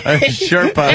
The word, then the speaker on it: Sherpa: He's got to find a Serpa for that mission. Is it Serpa or Sherpa? Sherpa. It is Sherpa?